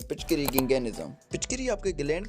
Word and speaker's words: gigantism: lobes होते हैं और ये जो गंगे निज्म है इसको आप गंगेट जम मत करना क्योंकि टी यहां पर साइलेंट है तो ये डिसऑर्डर जो